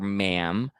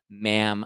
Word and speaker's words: ma'am: after that you only call her ma'am because it rhymes with ham and he's he writes that in the book ma'am like ham because you know he